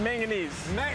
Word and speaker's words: manganese: then here's your zinc manganese not magnesium I'm saying it wrong right yeah it's a manganese manganes right totally different from magnesium zinc manganese concentrate and